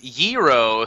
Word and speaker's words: gyro: It's pronounced gyro, says Andy L.